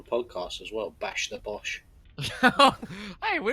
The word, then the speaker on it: Bosch: He goes by the name Frederick Bosch. Boesch? No, Bossh. Oh. It's pronounced differently to Teutonians, but she's lived here her whole life.